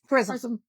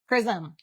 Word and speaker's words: Charism: It's charism. I know. Charisma. The thing you dropped the A. And that's hard for me as an American to drop the A off of.